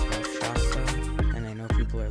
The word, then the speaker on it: Rakshasa: It is pronounced Rakshasa, and I know people are like, the new names for coasters are getting out of hand.